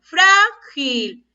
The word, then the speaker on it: frágil: Escuchen la pronunciación. Frágil. Yo no digo frágil, yo digo frágil.